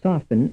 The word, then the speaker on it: soften: The T in the word soften is silent. B. The letter T in the word soften represents no sound.